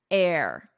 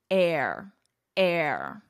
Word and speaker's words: heir: Charles the longest serving heir to the throne in British history notice here the pronunciation H is silent air and this is pronounced exactly as what you breathe air air and an error of